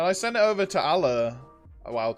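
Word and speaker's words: Allar: It's spelt A-L-L-A-R, but because I'm British, I pronounce that Allah, not Allah.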